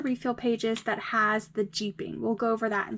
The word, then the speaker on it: jeeping: You guys heard me say a funny word, jeeping. That's spelled J-E-E-P-I-N-G, just like the car.